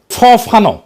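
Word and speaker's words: Fanon: ফরাসি আলজেরিয়ান চিন্তাবিদ ফানো ফানো নাম আসল উচ্চারণটা।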